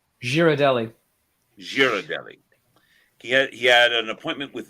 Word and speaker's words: Ghirardelli: The chocolate company Ghirardelli. Girardelli.